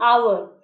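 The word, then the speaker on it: hour: बोला और अवर और जो साउंड हमें सुने देता है वह कॉन्सोनेंट साउंड नहीं है बल्कि वोवेल्स साउंड है हा वहां पर साइलेंट है इसलिए हमने एन ओवर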